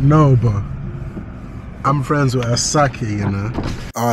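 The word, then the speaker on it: Asake: but I'm friends with aaki you know all right for the ones that really listen to afro beats I know I know chill relax I didn't pronounce his name well it's asak not aake my dog one time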